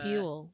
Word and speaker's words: Buell: Buell. Like it rhymes with Jewel.